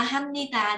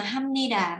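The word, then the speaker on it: 합니다: ta nói là hamnita hamnita đó, các chị có nghe nhiều không? Nhưng mà có nhiều người thì phát âm là hamnida, có nhiều người thì phát âm hamnita, nhưng mà em thấy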